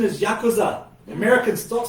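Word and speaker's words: ヤクザ: The pronunciation is Yakuza.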